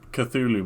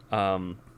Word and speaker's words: Cthulhu: Like, so we're both pronouncing it Cthulhu, right? Yeah. Apparently, the way Lovecraft originally pronounced it was, Cthulhu. Oh, really? Yeah. It was very different from how most people pronounce it today.